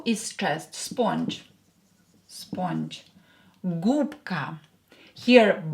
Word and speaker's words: губка: Губка. Here B will be pronounced as P because it's near voiced K here. Губка. Губка. Voiced consonant near another voiced consonant will become unvoiced. B will become P.